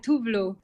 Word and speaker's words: Tove Lo: It's like more like yeah, it's like Tuvlu.